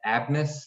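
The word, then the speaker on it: Abmas: max abness or yeah abness i think is how you pronounce his name um he leads the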